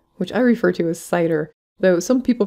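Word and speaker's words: CIDR: classless inter-domain routing which i refer to as cider though some people pronounce it sitter or even cedar but regardless c-i-d-r this is the notation used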